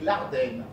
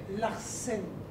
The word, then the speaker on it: Larsen: Larsen. Pardon. Je comprends. La quintessence de votre être tient dans le S.